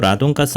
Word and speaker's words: radon: 가스라고 불리는게 있습니다 바로 라돈 있데요 영어로는 레이던이라고 발음을 합니다 오늘은 라돈 가스가 뭔지